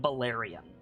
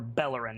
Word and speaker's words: Bellerin: Vess and Balerion. Or Bellerin, excuse me, I always get his name wrong.